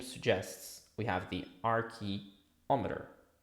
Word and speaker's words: archeometer: So in French it would be slightly different the pronunciation but it we have the arc which is the primordial not archo from archaeology that's another thing that is like old or antique no we are talking